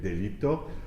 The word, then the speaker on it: delitto: So we have 1, 2, pago, figlio, su, I wouldn't say diletto, but delitto, ma, sal.